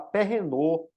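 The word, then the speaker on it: Philippe Perrenoud: é muito conhecido e em português o pessoal costuma falar Perrenot para o nome dele, mas eu estou falando aqui a pronúncia, né, Perrenot, que é o nome em francês dele, né?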